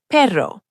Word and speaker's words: perro: The double R, like in pero, dog, or caro, car, is a full trill. Your tongue vibrates against the roof of your mouth. Perro.